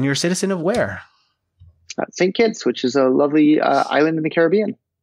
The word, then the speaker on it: St. Kitts: How do you pronounce it? St. Kitts? St. Kitts. Kitts, which is short for St. Christopher, but nobody says St. Christopher. They just say St. Kitts.